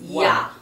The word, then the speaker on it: Jah: It's not, it's spelled J-A-H, but they're pronouncing it, Yah.